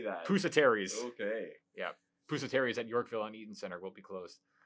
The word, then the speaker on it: Pusateri's: Pusateri's.